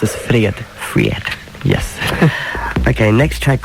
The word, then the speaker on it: fred: And you pronounce it Fred.